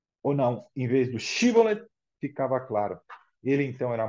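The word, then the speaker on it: שיבולת: eles a eles diga eu quero atravessar o shibolet shibolet ficava Claro que ele era da Tribo de Efraim se o pobre homem dissesse quero atravessar o cbol ou não em vez do shibolet ficava Claro ele então era morto sem piedade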